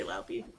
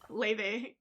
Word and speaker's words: Laufey: It's pronounced Leve. Yes, it is. Did I say Laufey again? I did say Laufey. Yes, Leve.